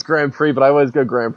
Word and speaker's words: Grand Prix: it's kind of like uh edited together your grand Pricks review um I finished my review for in